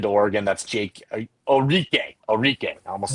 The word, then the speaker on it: Orique: Orique.